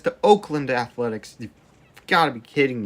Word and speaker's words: Oakland: The surviving special forces are leaving the city to strengthen their positions in Auckland. Did you just pronounce that Auckland? It's Oakland, you idiot.